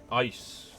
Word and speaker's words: ICE: Oh shove off Uygur I see pronounced ice acronym for intrusion countermeasures okay good to know